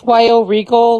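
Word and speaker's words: Wyoregal: It's Wyo Regal, like Wyoming, Oregon gal.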